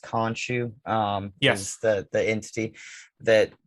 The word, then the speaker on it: Khonshu: And I always like kind of question, I think it's pronounced Khonshu.